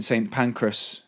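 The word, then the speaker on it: St Pancras: days where the in St panras is how you say how we say St pancreas pan St panras station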